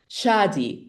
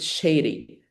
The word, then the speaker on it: Shadi: Shadi, which means the singing one, and people definitely pronounce it Shady, which is totally wrong.